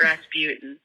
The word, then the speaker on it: Rasputin: you guys it's about Rasputin it's crazy but hear me out so in the Bony M song uh of the same name they say it like routine and poutine is like